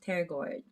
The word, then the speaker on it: pterygoid: I'm gonna, oops, sorry, together because it's a medial pterygoid. I always say the P word, but there's a P in front of it. But it's pronounced as pterygoid, right?